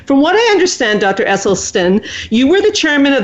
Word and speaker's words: Esselstyn: Esselstyn and I am going to check if I'm saying it right because I love him and I'm saying his name wrong dr. Esselstyn am I saying your name right now oh